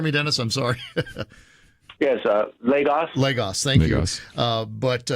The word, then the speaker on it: Lagos: Pronounce that for me, Dennis. I'm sorry. Yes, Lagos.